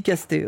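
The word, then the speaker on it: Castets: Anneaux d'ailleurs cette Lucy casté ne mérite même pas ah non il dit casté ok bah c'est c'est casté davantage notre Seigneur des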